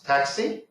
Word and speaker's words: TCSI: I feature so obviously TCS I pronounce taxi is a new feature